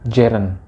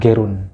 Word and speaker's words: gerund: Jadi cara membacanya adalah gerund, bukan gerund.